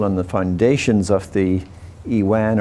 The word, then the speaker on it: iwan: the foundations of the iwan or avon avon is the persian original persian pronunciation 1334 the iwan was